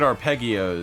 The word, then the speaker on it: arpeggios: 64 Like not quite arpeggios. Yeah. Or is it arpeggios or arpeggios? Arpeggio. Arpeggios. It's a soft G.